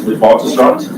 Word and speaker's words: Witwatersrand: be Whitewater Ridge, but in the Afrikaans language it's pronounced as Witwatersrand, and this is the University of the Witwatersrand.